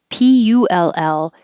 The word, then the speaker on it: pull: okay assess like assessment p-u-l-l just forget about the u don't think about what vowel should i be making just put your tongue in the l position and then make a p